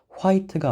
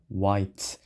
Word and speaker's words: white: 참고로 여기 있는 H는 우리가 발음을 하지 않습니다. 그래서 W만 발음해서 화이트가 아니라 와이트.